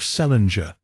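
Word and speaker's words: St. Leger: Patience, who was born in 1858, married an Irishman of the name of Celinger, which was the usual way of pronouncing the name of St. Ledger, or as they spelled it, sent Ledger, restored by later generations to the still older form.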